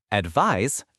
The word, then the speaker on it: advise: Advise a dv verb z sound the act of giving a suggestion or recommendation.